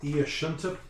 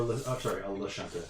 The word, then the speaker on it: Lashunta: Okay, so the colony's head administrator is an Iashunta, or a Lashunta. I thought it was a capital I.